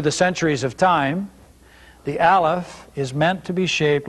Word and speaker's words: Aleph: of the Hebrew alphabet the phonetic way to say this in Sephardic or Biblical Hebrew which is what we're learning in this course as compared to modern Hebrew is Aleph today you would hear the sound a leaf but we are speaking Sephardic Middle Eastern Biblical Hebrew so our pronunciation for this letter is Aleph Aleph as a word